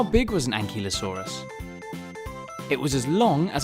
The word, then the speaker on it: ankylosaurus: velociraptor bye velociraptor how do you say that again an key low saw russ how big was an ankylosaurus it was as long